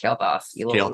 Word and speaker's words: Kael'thas: Kael'thas. You little jerk. Kael'thas and Strider. By the way, I have 2 golden Flame Imps, so the artwork that's animated is really cool, and a golden Kael'thas.